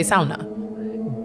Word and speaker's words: sauna: accent well because uh when you say sauna it's like you're finished not an accent that's real that's how you say it you say sauna but where in finland where it's from i'm drooling yeah you